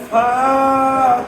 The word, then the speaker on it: ف: আমরা ফর উচ্চারণ করবো ফর উচ্চারণে কি ফা এই নিচে ঠোঁটের ফ্যাট উপরের দাঁতা দাঁত নিচের ঠোঁটের ফ্যাট উপরের দাঁতে ধরে এই ফা ফা ফা আর যদি ফ বললে হয় ঠোঁট দিয়ে দুই ঠোঁট দিলে হয় কি ফ আর ফা বললে উচ্চারণ